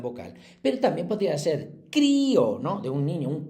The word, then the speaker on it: crío: Como va con una fuerte, igual la débil, si queremos pronunciar la fuerte, hay que ponerle tilde. Si no, se diría crió, que también existe la palabra crió.